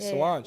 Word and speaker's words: Solange: Solange.